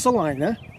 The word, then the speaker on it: Salina: through in life which is this beautiful life Salina Kansas okay it's pronounced Salina okay I didn't know that was we got